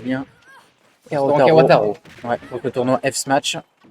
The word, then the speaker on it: Kawataro: Et on remercie bien sûr le restaurant Kawa Karo, si je le prononce bien. Kawataro.